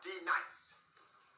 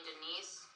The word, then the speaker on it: D-Nice: Now D nice. Do you mean Denise? Son of a bitch. You say your name right now. Denise? Say it right. Denise. Correctly. Denise. Right. Denise. Right. D-Nice. That's better.